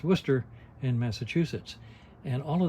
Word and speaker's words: Worcester: s t e r which I always pronounce Worchester until I found out it's supposed to be Worcester and so I thought